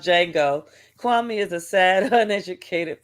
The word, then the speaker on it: Django: Django instead of there's a d is silent you don't even say it right because that's that's